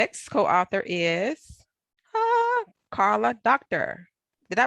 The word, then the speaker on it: Karla Docter: next co-author is Karla Docter. Did I pronounce that correctly, Karla?